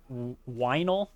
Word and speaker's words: Weinel: Their names are Skog, Zorro, Weinel, spelled like vinyl but with a W, Philip, and the Pet Hen.